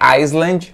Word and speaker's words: island: uma moça pronunciará em não é island você não vai puxar esse s aí beleza corta kpss fora